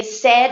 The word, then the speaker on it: said: always say this to my students, and I say said is like in español, cuando decimos tengo sed, it's the same, said.